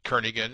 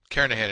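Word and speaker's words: Kernighan: will be using the kernigan and Richie or Kahan I should say the g is silent carahan and Richie C programming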